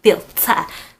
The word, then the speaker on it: Filt'r: Pro Filt'r, and it's named Filt'r. You gotta say it like Filt'r.